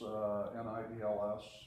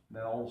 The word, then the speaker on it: Niels: is just to go, "Hells bells, it's Nels."